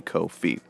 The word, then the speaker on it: Ko-fi: code file you ask it rhymes with no fee so that would be co-fee so let's go back